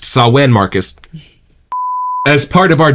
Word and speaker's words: Samhain: They generously agreed to let us release their bestseller, Sawen, pronounced Sawen, Marcus, as part of our double feature.